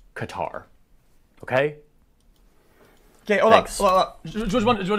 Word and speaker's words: Qatar: Qatar, a country that should be pronounced Qatar, but I'm not gonna be that pretentious guy who shows up trying to like say it in the local pronunciation because it makes me sound cultured and cool. I am that guy. I'm trying to not be that guy. So for now, I'm just gonna say it like a Texas oilman says it, Qatar.